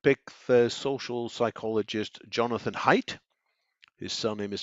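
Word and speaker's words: Haidt: perhaps I would pick the social psychologist Jonathan height his surname is spelled h-a-i-d-t I find his writings and Analysis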